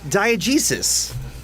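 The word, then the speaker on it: diegesis: PA and oh yeah like is that again diogesis like did I say it right yeah perfect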